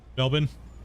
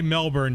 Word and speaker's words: Melbourne: Melbourne, Australia for you. I know I have to say it like that, right? That's correct, right? If I say Melbourne, you're gonna be like cringe, and it's Melbourne, right?